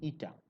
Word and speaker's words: eta: Now let me write the symbol name because by pronunciation this may not be very clear. I am calling this to be eta, E T A.